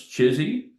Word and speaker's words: CHSI: human super intelligence C which forms the acronym chsi which we lovingly pronounce chizy and um and we've